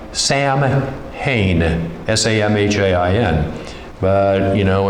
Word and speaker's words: Samhain: or spelled like Samhain, S-A-M-H-A-I-N. But, you know, in Celtic language, letters have different pronunciation values.